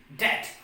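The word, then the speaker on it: debt: D-E-B-T, det. Now we will move on to some more silent letters.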